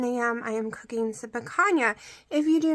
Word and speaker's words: picanha: And yes, people pronounce it picanha, so it sounds like there's a Y in there. Picanha or something is what I would think it would be pronounced like hay or picanha or something, but it's picanha.